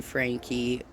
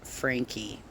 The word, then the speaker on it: Franke: It should be noted that Kevin Franke, I don't know why some of you live streamers lately have been saying Frank. I believe it's pronounced Frankie.